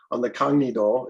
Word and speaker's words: Kangnido: Ocean, and that's Africa on the Gangnedo, using the Korean pronunciation.